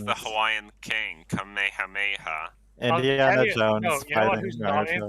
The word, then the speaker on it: Kamehameha: Kamehameha. Kamehameha.